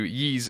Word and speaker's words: Ys: Is it Wise or No, that's how you No, Ye is right. I usually say in a joking sense Wise, but Colin isn't here to correct me. I thought it was ease. What? You know what I say? E. Yeah, it's one of them. Can we just call it Wise? It's in America. We had three different pronunciations.